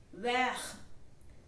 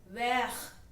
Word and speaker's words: vert: Vert. Vert. The T in the end will not be pronounced.